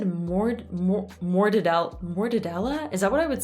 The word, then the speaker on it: mortadella: Don't be afraid to let your lips kind of come out of it because that's how you create that closed sound. Mortadella.